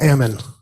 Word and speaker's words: Ammon: didn't catch your name uh Ammon like salmon it's hard to pronounce